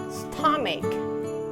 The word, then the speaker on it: stomach: Tulisannya itu memang begitu, tetapi membacanya stomach.